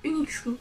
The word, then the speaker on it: Uniqso: Donc c'est de Unixco, normalement ça se prononce comme ça.